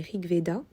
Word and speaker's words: RG Veda: hayden rig veda donc ça s'écrit rg veda mais ça se dit ricv da don krieg reda c'est